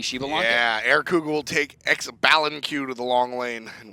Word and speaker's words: Xbalanque: Yeah, AirCougar will take Xbalanque to the long lane, and we'll see.